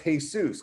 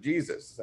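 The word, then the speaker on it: Jesús: And then people always say, oh, well, it's just Jesus because that's his last name is Gonzalez. And I said, that's not how he pronounces it. He pronounces it Jesus.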